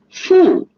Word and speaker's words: 副: 拿副 is the measure word for utensils, and it's in the fourth tone.